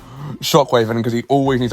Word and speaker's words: Shock.wav: shark is called Shockwave, or Shock.wav, but pronounced Shockwave, which I think is